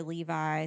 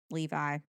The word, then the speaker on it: Levi: March 26th, unaware of whether it's, I pronounce it Levy, some say Levi, some do not, some don't. So I'll say Levi.